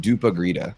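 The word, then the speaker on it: dopp i grytan: My family does a traditional Swedish Christmas dinner called dop I grita, pronounced dupa grita.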